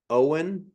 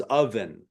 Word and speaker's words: oven: way to explain that I think this was a pronunciation thing right here Owen versus oven oven oven you got it oven you got it perfect versus yeah and then